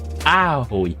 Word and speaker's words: Aoi: Aoi. Ah. With the emphasis on the ah sound. Aoi. Ow. Ow. The O is like the O in sorry or sorry?